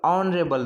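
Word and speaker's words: honorable: For example N ऑनरेबल man, some important words, N ऑनरेबल, ऑनरेबल तो यहाँ पर भी एच से स्टार्ट हो रहा है, लेकिन ऑनरेबल यानी कि ओ से प्रोनाउंसिएशन स्टार्ट हो रहा है, इसलिए अपन एन लगाएंगे।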